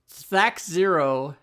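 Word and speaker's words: THAC0: I'm saying that's how it should be pronounced because it stands for to hit armor class 0. Not oh.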